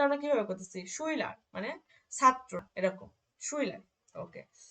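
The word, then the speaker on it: Schüler: যেমন শুইলার, শুইলার, দেখেন ইউ যেহেতু উমলাউট আছে উচ্চারণটা কিন্তু একটু উই মানে এরকম কিন্তু আসতেছে শুইলার, দেখছেন?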